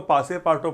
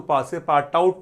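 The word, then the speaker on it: Passepartout: With this message he servant पासेपार्टो grabs Phillies, इसको पासेपार्टो पढ़ना है, इसको पासेपार्ट आउट नहीं पढ़ना है, ये जो है ना ये यूटी साइलेंट है, पासेपार्टो।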